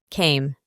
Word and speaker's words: came: Como se ve, aquí cambia de forma, y para la pronunciación vamos a reemplazar la A con A, y evitamos pronunciar la E del final. Came.